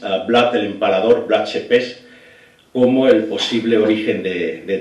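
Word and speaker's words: Țepeș: Y eso lo comentas en Rumanía cuando estás viajando y te puedes buscar un problema porque a Vlad Tepes, Vlad Tepes se escribe, pero se pronuncia Tepes, te puedes buscar un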